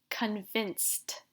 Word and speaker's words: convinced: Convinced. Can you hear how I pronounce the ed like a t?